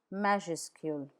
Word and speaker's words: majuscule: Please note that the final S is not pronounced in majuscule.